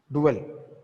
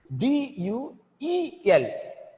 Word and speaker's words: duel: D-U-E-L. That is fight between two people. Both are pronounced same. Duel. This is known as homophones.